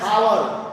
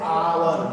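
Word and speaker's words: hour: लिखा हुआ है हावर, लेकिन इसको हटा के पढ़ते हैं आवर। गौर कीजिए बाबू, आवर।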